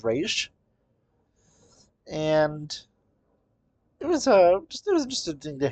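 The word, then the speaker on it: Ra's: I guess they're going with the Raz pronunciation, but honestly, it's one of the people that's on the correct pronunciation is Raish.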